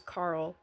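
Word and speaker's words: Karl: Anyway, I found out Kyle's name is Carl, but spelled with a K, so of course I thought it was Kyle.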